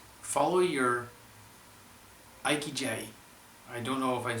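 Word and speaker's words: ikigai: so the tenth thing it says follow your iqj I don't know if I'm saying that right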